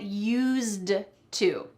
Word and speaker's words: used to: Well, I said use, but there's actually a D at the end of that word. Get used to. But we don't say the D, but make sure you don't forget it if you're writing this phrase.